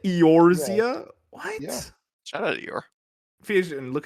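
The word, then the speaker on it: Eorzea: exactly what it says aoria no what that's how they pronounce it aoria what shout out Fus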